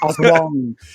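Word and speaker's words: Aswang: Asswang. Isn't that the way? Isn't that how you're supposed to say it? Yeah. Oswang. I think the cover actually has there's a little pronunciation thing.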